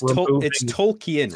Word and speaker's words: Tolkien: read connection nice it's Tolkien right you pronounce the I tolken tolk the when you're writing a